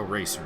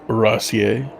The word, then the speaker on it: Rassier: I think we should pronounce that a little bit more French. It should be Joe Rassier.